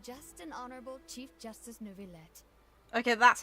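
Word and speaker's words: Neuvillette: have the absolutely just an honorable chief justice nouveaulette okay that's how you say it fair enough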